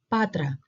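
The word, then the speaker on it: Πάτρα: um reading task because we have the first syllable which is p p and a so p and then we have two consonants next to each other and it's T and R so together we have so all together Patra Patra in English we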